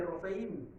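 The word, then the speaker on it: רֹפֵא: sino a los médicos médico se dice rofe espíritus de los muertos se dice refa se escriben igual solo cambian las vocales Entonces qué decía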